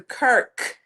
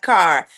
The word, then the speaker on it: Kirk: Somebody let me know that it was um Erica Kirk, not car y'all.